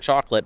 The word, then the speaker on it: Choklit: We keep saying chocolate, but it's spelled Choklit.